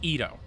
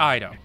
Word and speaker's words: Ito: Also, it's Ito, not Ido. Thanks.